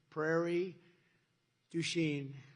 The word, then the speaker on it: Prairie du Chien: So we're here today in Prairie du Chien. Is that a good? Yeah. Good pronunciation.